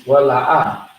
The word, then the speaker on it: wala'a: Now, so next word is wala'a. Wala'a is how you say it fast.